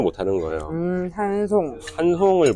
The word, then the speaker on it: 한송: 한송. 한송을 못. 되게 예쁜 이름인데. 근데 미국 사람들이 한을 HAN을 한으로 안 하고 보통 헨으로 읽잖아요.